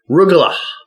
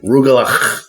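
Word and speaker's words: rugelach: rug it's a Jewish pastry it's called remember rugal that's how you that's how you pronounce it properly rugal okay and when it's done properly I still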